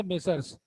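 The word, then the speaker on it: Messrs: इसका प्रोनाउंसिएशन जो है, प्रोनाउंसिएशन इज ए मेसर्स।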